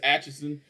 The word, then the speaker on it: Atchison: Mine's is Atchison, and I get Atkinson and Atkinson.